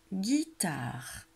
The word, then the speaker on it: guitare: Une guitare. Une espace. Guitare. Et il y a un E muet à la fin du mot.